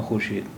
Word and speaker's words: خورشید: خورشید، لیکن اب یہ واو نہیں بولا جاتا.